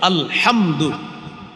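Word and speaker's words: الحمد: হাম দাল পেশ দু আলহামদু এই যে আপনি আলহামদু শিখলেন উচ্চারণ করলেন দেখেন আপনি হামজা লাম জবর আল হা মিম জবর হাম দাল পেশ দু আলহামদু পাঁচটা অক্ষর এই পাঁচটা অক্ষর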